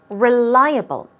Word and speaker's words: reliable: Reliable. Although it starts with a R-E, it's not really a re sound. It's r, r. Re, no, it's r, r. Reliable.